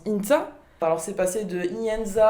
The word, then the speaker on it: Ihintza: Ihinza, qui se prononce Inza.